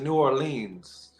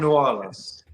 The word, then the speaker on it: New Orleans: tell y'all so uh most folks um they pronounce it New Orleans which is not the correct way to say